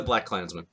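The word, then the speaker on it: BlacKkKlansman: kid did actually oddly enough but how we're pronouncing this one black Clinton a black Klansmen I think we're going it's a black Klansmen yes because it's black KKK you know the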